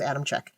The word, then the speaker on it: Adamcik: It's spelled Adamcik, but I think when I was listening to stuff about it was Adamczyk. I'm going to say Adamczyk, and if I'm wrong, that's good.